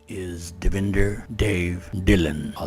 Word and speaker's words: Devinder: good afternoon my name is davinder dave dylan i'll spell it out d-e-v-i-n-d-e-r devender now instead of using original sing i use